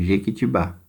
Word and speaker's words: Jequitibá: Vocês vão vir aqui no exercício 1, tem a palavra Jequitibá. A última sílaba é a tônica. Então, vocês vão copiar essa palavra aqui no balde vermelho. Então, a primeira palavra aqui vai ser Jequitibá, porque a sílaba mais forte é a última.